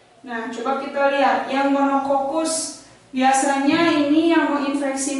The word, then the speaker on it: monococcus: bulat cuman satu bulatannya namanya monococcus dibacanya monokokus Ya monococcus tapi monokokus kalau yang buletannya dua